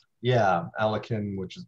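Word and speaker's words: Alekhine: in budapest six years before winning the title elekin yeah alakin which is pronounced el yokin i guess i've never heard it pronounced correctly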